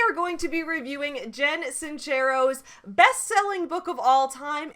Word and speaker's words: Jen Sincero: made on this woman i have pronounced her name like jen cincero her name is actually jen sincero i pronounced it wrong it is italian somebody corrected me in